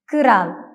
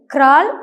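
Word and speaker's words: kral: കിറാൽ. കിറാൽ means king. ഇവിടെയും കെ, ആർ എന്നീ 2 letters ചേർന്ന് വരുമ്പോൾ ക്രാൾ എന്നല്ല ഉച്ചരിക്കേണ്ടത്, കെ, ആർ എന്നതിനിടയിൽ എന്നൊരു ശബ്ദം ഉൾപ്പെടുത്തി കിറാൽ എന്നാണ് ഉച്ചരിക്കേണ്ടത്. കിറാൽ.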